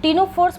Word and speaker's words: Ctenophora: टीनोफोर्स पोज़ेस eight rose of ciliary कॉम्प्लेट्स। और इस कॉम्प्लेट्स को किस नाम से जानते हैं? टिंस। बच्चों, टीनोफोरा में भी सी साइलेंट है। तो, आप कंफ्यूज मत करिएगा।